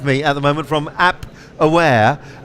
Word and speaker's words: Appware: I've got Richard Eaton with me at the moment from Appware, app that rhymes with cap.